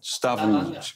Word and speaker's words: Stavanger: So how do you pronounce Stavanger? Stavanger.